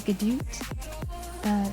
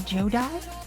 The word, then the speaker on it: Godot: The Gadoot, the Jodai, the Jodoot. But you are listening, Nat. Hi, Nat. I really like that it's canon, that they're all correct now.